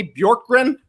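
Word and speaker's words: Bjorkgren: hired one nade out one nade in skeets pronounced this name for me bjork grin yeah that's pretty good i mean that's how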